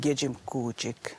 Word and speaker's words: Kejimkujik: In our language of Mikmaw, you know, K's are often pronounced as G, so we call it Kejimkujik, right?